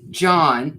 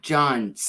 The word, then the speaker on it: Saint John: probably have i just don't remember it it's john not john's ah thank you rob thank you thank you